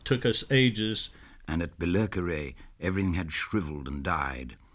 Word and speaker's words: Billericay: It's Billericay.